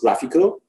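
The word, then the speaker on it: GraphiQL: I know there and the single letter that you get between graph and QR the pronunciation is graphical so you can use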